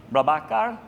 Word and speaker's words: Prabhakar: So, and then next, Balaji Prabhakar. Did I pronounce that correctly? Prabhakar, yeah.